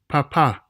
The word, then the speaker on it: papá: They must be observed in order to ensure proper pronunciation because they can literally change the meaning of words. Let's look at two examples. Bebe, bebé, papa, papá.